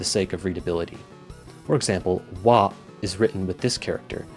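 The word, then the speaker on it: は: For example, "wa" is written with this character, which is normally pronounced "ha".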